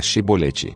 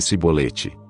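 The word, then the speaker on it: shibboleth: então lhe pediu que dissesse a palavra shiboleth se no entanto dissesse sibolete porque não conseguia pronunciar corretamente a palavra eles o prendiam e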